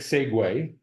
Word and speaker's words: segue: That's the perfect segue. That's an impressive word for an Afrikaans speaking guy. I even pronounced it correctly.